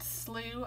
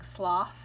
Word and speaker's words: slough: water wasn't very deep this word slew I've been pronouncing sloth in this book but a friend of ours from Canada told me that it's called a slough this Lake was about